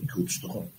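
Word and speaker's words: Côtes du Rhône: dice cuts dur se escribe cotes durone se pronuncia cuts dur ese ya y ahí del de la allá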